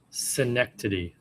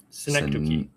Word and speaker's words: Synecdoche: Synecdoche. No. Synecdoche.